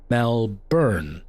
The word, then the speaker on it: Melbourne: of it and so Australians don't pronounce the r the way the rest of the world would pronounce the r or the the Americanized